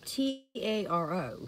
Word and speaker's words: taro: i said it's spelled t-a-r-o so i think i said taro yeah i pronounce it taro because in my little brain when i think tarot i think of cards right tarot cards yeah so that would